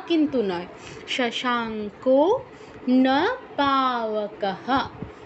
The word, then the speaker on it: শশাঙ্ক: এটা অন্যদেরও অসুবিধা হবে আচ্ছা ভাসায়তে সূর্য না শশাঙ্ক শশাঙ্ক কিন্তু নয় শশাঙ্ক নবকহ না পাবকাহ নদভাসতে সূর্য না শশাঙ্ক নবক